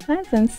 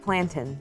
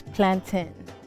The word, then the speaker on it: plantain: I'm representing Trinidad and Tobago, and I made fried plantains today. It's pronounced plantain. It's plantain, like captain, not plantain, like, I don't know.